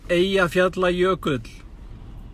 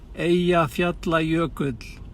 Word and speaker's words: Eyjafjallajökull: The name is Eyjafjallajökull. Repeat after me. Eyjafjallajökull.